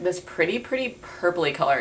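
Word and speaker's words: PRITI: So it looks like this, and it's just like this pretty purpley color.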